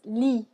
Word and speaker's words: lit: The next word is lit. Lit. Go ahead. Lit. Good. You're only pronouncing the L and the I. Okay, not the T.